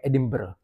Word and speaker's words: Edinburgh: Kita sebut biasanya mungkin Edinbur tapi disebut melalui dialek tempatan gal yang disebut sebagai Edinbur. Edinbur berbeza sedikit sebutan dia. Aa jadi dekat Edinburgh dengan a a dekat